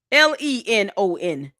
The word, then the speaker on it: Lenon: And it's so dumb that you think that our intelligence is lower than yours while you cannot pronounce his name. Linen. L E N O N. Lenon.